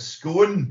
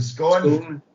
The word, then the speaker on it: scone: That's up there we hearing you pronounce it scone rather than scone.